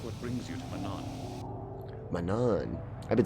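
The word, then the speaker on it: Manaan: Manan.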